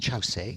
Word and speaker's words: Kyaukse: It's spelt Kyorkse, but pronounced Chausey, and Chausey is what I'll call it all the way through this talk.